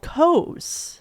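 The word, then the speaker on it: Koze: her new brand is called cos and it's spelled k o z e and The Branding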